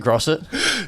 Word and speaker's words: Grosset: Is that how you pronounce it? Grosset?